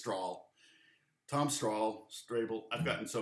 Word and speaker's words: Strahle: And also, in case you were wondering how to pronounce it, everybody says Strahle.